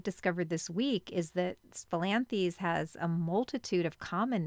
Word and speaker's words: Spilanthes: people haven't heard of it's philanthes i've also heard some people say spilanthus i've heard many different ways to pronounce it but just so we're